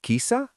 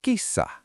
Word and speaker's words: kissa: Is it kisa or kissa? Kisa. You are stepping on a rug. Is it mato or matto? Matto. You see a cat. Is it kisa or kissa?